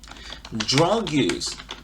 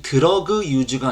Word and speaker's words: drug use: Drug use inside Starbucks bathrooms예요. 여러분들 drug use 들으셨습니까? 이 드러그 유즈가 아니고 drug use 이렇게 발음되죠.